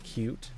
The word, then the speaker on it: Qt: would look this up cute is spelled with just the letters qt yes pronounce cute because the whoever came up